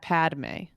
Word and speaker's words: Padmé: a like you say padame padame so just padame oh I see how it's pronounced so this conversation began uh a couple